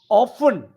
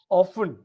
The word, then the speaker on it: often: Often, uh, T is silent. Often is English, often is American.